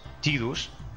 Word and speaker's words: Tidus: ha salido es que la pronunciación correcta, según los creadores o uno de los implicados en el proyecto original, es Tidus, porque esto en japonés original se pronuncia algo así como Tida o algo parecido como esto. Entonces, pues, Sai sonaría Ti, no Tai.